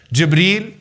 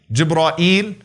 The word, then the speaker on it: Jibreel: the name of Jerusalem what are some of the ways to pronounce his name gibreel jibra eel Gibran ill jibra eel Jew Breen those are five ways that have been narrated through the various Korat all right debris jibra